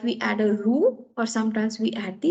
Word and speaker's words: roux: first one that is r o u x it is called as ro you pronounce it as uru rho is basically one